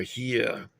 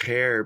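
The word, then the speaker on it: Heer: the regular army or here. I'm not sure how they say it. It looks like it's hair, but it's here.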